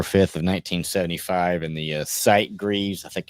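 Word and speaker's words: Sitgreaves: in the Site Greavves, I think it's how you say it. National Forest, which is S Greavves or Sight Greavves. Yeah, S Greavves. Yeah, because I guess there's no E in it.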